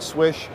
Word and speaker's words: Slysz: is the swish buoy it sounds like swish it's designed by marcin swish he's a polish knife maker it's spelled SL YSZ but if you pronounce it in the traditional manner its swish this is one of